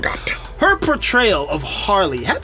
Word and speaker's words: Margot: The one last point I want to make, Margot Robbie, before I say Margot, the T is silent. Margot.